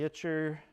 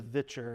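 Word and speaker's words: Witcher: got Yennefer from the Itcher. Sorry, it's pronounced the Vitcher. It's two V's.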